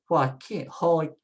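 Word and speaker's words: Joaquín: The next one is, the J is an H sound. So you say H-O-A, hoa, hoa. And then the K, the Q is a K, and the U is silent. So you say keen, keen. And it has an accent, so that's easy. It tells us where to put the stress. So just say Joaquin, say hoa, but it comes out hua, hua.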